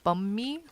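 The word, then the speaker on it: Bánh mì: Uh, it's pronounced more like bum me. Bun bun me.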